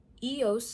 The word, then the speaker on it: EOS: some of you already know what's coming mhm EOS which is the correct way to say it